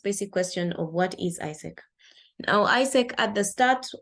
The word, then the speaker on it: AIESEC: just a word and the people that usually mispronounce it and as a I say go Isaac or something of a sword however it's just pronounced as Isaac so basically or what